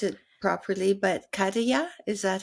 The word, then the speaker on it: Khadijah: And I don't know if I'll pronounce it properly, but Khadijah, is that how you say her name? Khadijah? Khadijah.